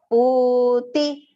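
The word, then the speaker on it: पूति: Here, do not make the mistake of making that pu small, because the pu is long pronunciation and the ti is short. So puti.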